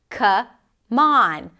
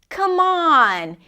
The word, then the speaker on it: come on: Now, when you say that, the word come has the cup sound, and on has the ah as in father. It's not the same sound. Come on. The M of come becomes the beginning of the word on. So this is how it sounds actually. Come on. Come on. And the stress is on the second part of the phrasal verb.